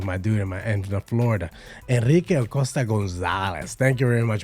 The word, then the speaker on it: Acosta: Senor Enrique, you have to pronounce it, you gotta roll the R's, when it comes down to my dude in Florida. Enrique Acosta Gonzalez.